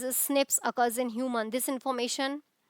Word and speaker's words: SNP: Nine scientists have identified about 1.4 million locations where single base DNA differences SNP single nucleotide polymorphism pronounced as SNPs occurs in human.